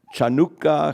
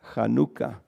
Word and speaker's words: Hanukkah: um kanuka and or chanuka kanuka. All kinds of different ways that people spell it and and pronounce it, but it's called kanuka.